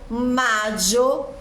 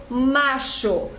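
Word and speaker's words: Mayo: Abril depois Maio Maio eu posso pronunciar Maio madio macho depende do país depende da região daquele país a letra Y que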